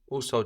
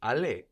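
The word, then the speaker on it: aller: plural in the word for the which is also the word for it or them no how do we say the do la la good and how do we say the doors so in the plural also just becomes g a r e l is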